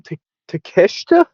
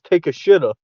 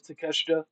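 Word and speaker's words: Takeshita: How do you say his name? Teesha. Teesha. I in my head I read it as Teacha. I did not know how to say. That's how that's how I read it when I first saw his name. Um but then I heard them pronounce that as Teesha. So I I couldn't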